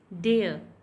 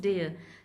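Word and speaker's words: dare: डेयर, डे, raw would be silent because जब भी र से पहले वॉवल साउंड होता है तो र हमेशा साइलेंट होता है. So this is डेयर.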